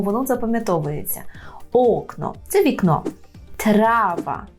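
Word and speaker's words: trawa: запам'ятовується окно це вікно трава так не трава а трава трава желана трава hotel hotel нехотель ахотель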